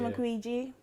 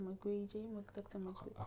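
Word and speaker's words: Mukwege: Same, Dr. McGreegee. That's how they say his name. Dr. McGreegee.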